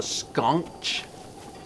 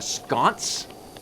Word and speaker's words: sconce: A sconch? What? A sconce? Is that what how do you pronounce that?